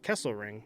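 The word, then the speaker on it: Kesselring: round pick in 2023 and defenseman Michael uh Kessel ring that's how you say it the coyotes will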